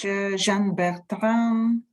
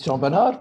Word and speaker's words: Jean Bernard: And now I invite to the stage Jean Bertrand from Finlight, if I pronounce it properly. It's Jean Bernard, but works very well.